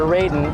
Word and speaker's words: Raiden: If you'd like to control the God of Thunder, Raiden, highlight yes when you're entering your pin and secret character name. Spell it R-A-I-D-E-N.